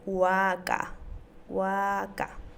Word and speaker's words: waka: el sustantivo vaca y lo vamos a pronunciar waka waka bien manteniendo la pronunciación de la vocal a larga o acá como otro